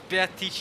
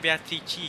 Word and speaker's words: Beatrice: I'm not sure if it was Beatrice necessarily, but someone maybe claiming to be Beatrice.